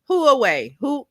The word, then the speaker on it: Huawei: Carla says it's pronounced Huawei.